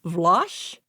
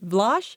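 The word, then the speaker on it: Vlosh: We also have what's called Vlach. V L O S H rhymes with squash. Vlach.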